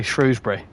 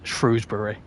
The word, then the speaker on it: Shrewsbury: it's it's vice versa but I say Shrewsbury which I think is right really because well it's a shrew like it's named after the animal shrew so it's Shrewsbury what day would the